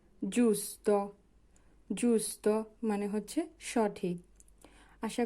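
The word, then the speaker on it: giusto: পত্রিকা জি এর পরে আছে ইউ হবে জু জুসত জুসত মানে হচ্ছে সঠিক আশা করি এতটুকু আপনারা বুঝতে পেরেছেন। এবার আসি জি এর উচ্চারণে গ এর উচ্চারণ হয় কোন সময়।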